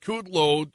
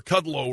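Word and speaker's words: Kudlow: this this interview with kudlo um or cudow rather I always mispronounce his name it's Larry cudow um said um this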